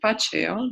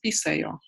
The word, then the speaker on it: paccayo: So for you to be able to follow, you have to know that, for example, pachayo, they pronounce as pisayo. So this ch, they pronounce as s.